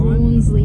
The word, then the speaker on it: Rawnsley: We are currently in South Australia at the Flenders Rangers and we are at I get this pronunciation wrong every time. Bronley Park.